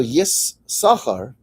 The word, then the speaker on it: Yissachar: So Yissachar is S'char s'chora ti'cha. The possuk is you can't explain the possuk if you drop that letter. Why don't we pronounce it? Because it's embarrassing. It's not the kavod.